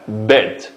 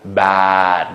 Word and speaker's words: bed: Bed. Bed. Hargiz bad deb og'zimiz yo'g'on saqolmaydi. Bed.